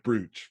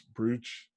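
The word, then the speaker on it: Booth: And finally, the John Wilkes brooch, or John Wilkes brooch, but it looks like brooch. Get it? John Wilkes brooch. It's pronounced brooch, but it's spelled brooch.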